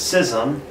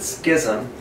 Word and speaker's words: schism: The word that we use for it is schism, or some people pronounce it schism.